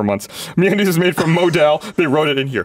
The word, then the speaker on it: modal: dose of confidence me is made from Mod Modell Modell I said it I've been saying it wrong apparently for months me is made from modal they wrote it in here pronounced modal like